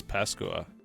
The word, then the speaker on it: Pascua: What is Pascua?